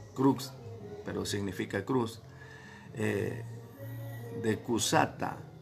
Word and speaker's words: crux: Y por último, la crux, en latín se pronuncia así, crux, pero significa cruz, de Cusata o cruz de San Andrés, en la forma de la letra X.